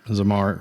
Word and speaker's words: Zamar: that's awesome uh so your brand zamar yep zamar am i saying it correctly yep yep zamar